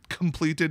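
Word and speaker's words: compleated: once you've been uh compliated which i've heard is pronounced completed even though it's not how they spell it i thought they were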